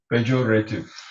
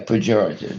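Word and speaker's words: pejorative: Porative. Porative. Porative. Expressing Expressing contempt or disapproval. Yeah, that's the correct. You mis you mispronounced the words uh porative. Yeah. Pjorative.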